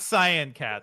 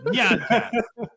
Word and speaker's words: Nyan Cat: It's not Cyan Cat. It's Nyan Cat.